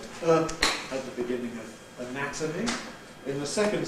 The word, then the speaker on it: anatomy: So we can compare the adjective anatomic with the noun anatomy.